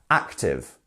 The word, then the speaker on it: active: um active active and can you hear the stress here we have two syllables is it the first or the second one active yeah you're going up then down right it's one to active um next we have listening